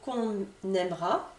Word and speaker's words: aimera: Tu es sûr qu'on aimera? Vous entendez? Ici, phrase du quotidien, et là, naturellement, je ne vais pas prononcer le E.